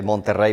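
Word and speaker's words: Monterrey: So uh I am from Monteray, Mexico. Uh or like I would say Montter Mexico. That's the right way to say it.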